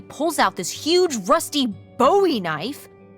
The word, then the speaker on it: Bowie: out this huge Rusty Bowie knife it's actually pronounced buoy what no it's like the last name like David Bowie last name buoy are